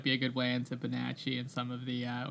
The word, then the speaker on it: Bonacci: uh I think I think as a side note I think it like it should be pronounced bonacci but he pronounces it basi. Basi. Okay. So he pronounced it bonasi.